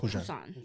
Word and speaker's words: Busan: Well, it's Busan, but they pronounce their B's like P's, so it's Busan.